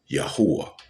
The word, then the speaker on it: Yahweh: Whether you speak English, Spanish, Yahweh's name is Hebrew. I don't care if you speak English, Chinese, Mandarin, uh, or whatever angel. There's a many, many, many languages in the earth. The pronunciation and the saying cannot change. It is still Yahwh.